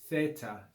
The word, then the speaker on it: theta: the letter theta and you can hear how i'm pronouncing it theta theta that's really not the true classical sound of this letter that's the common sound that's used in modern greek choruses we could pronounce this letter with the th in the word thin like fin okay but